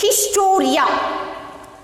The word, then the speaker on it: historia: H-I-S-T-O-R-I-A. How to pronounce this? Historia.